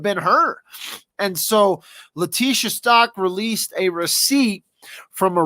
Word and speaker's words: Stauch: They literally wrote me a message and said, hey, when you're doing your lives, the name is Stauch. Like cow, Stauch, like cow.